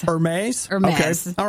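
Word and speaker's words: Hermès: But Nikki and I are looking this morning at Hermes. I always call it Hermes. Hermes?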